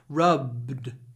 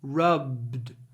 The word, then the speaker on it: rub: for example when it's B at the end but we have a proper B rub rub try not to do a glenia in this case rubbed her eyes she